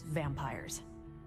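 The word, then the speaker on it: vampyres: the New Breed vampires with a Y pronounced exactly the same as vampires I suppose that was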